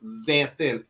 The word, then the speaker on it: Xanthin: My official name is Xanthin, Xanthin. But Wow. everyone calls me for short, and instead of because the X is pronounced as a Z, so we just say, right?